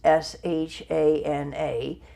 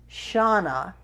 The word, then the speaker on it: Shana: my passport which is sha na spelt this time sh-shh na because I'm hoping that will make people pronounce it as Shona and not without the